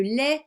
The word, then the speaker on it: lait: Tu sais, le lait que tu bois. Alors attention, je te rappelle que il y a une lettre muette à la fin du mot lait. Lait.